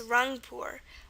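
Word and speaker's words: Rangpur: pretty simple an example it's run poor r-a-n-g p u r so they're just a g so that's another one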